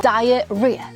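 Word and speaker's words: diarrhea: 단어가 생겨 에도 불구하고 발음은 diarea diara rea라고 발음합니다 h 발음이 안나요죠 설사를 하는데 h 아지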